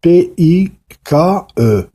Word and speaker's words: Pike: وهاد ألبير بايك سميتو PIKE. ça se prononce Pike.